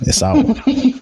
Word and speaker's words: Esau: You know, like SAU, like sauce. Mm-hmm. So, Esau. I'll do Esau. Either I'll do it to Yoruba as Esau. Mm-hmm. Or Esau. Okay, we'll do Esau.